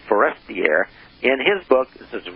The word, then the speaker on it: Forestier: And according to René Le Forestier, let me pronounce this right, Le Forestier, T-I-E-R, not Forrester, but Forestier, in his book, this